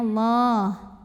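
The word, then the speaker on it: الله: Innallah, lam pada lafaz Allah atau lam jalalah dibunyikan secara tafkhim karena lamnya didahului baris fathah, maka dibacanya tebal ya, pangkal lidah naikkan, bunyinya Allah. Innallah, alif lamnya dinamakan dengan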